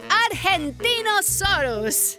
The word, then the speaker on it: Argentinosaurus: Deo I'm the Argentinosaurus wo that is a big name for a big Dino I have to break it up to say it right R gen teen o sore us that's me so I'm